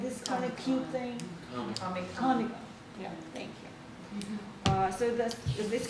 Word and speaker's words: Comic-Con: And he studied internet interest communities, fan fiction, Amicon, am I pronouncing it right? MovieCon, it's like this kind of cute thing. Comic-Con, yeah, thank you.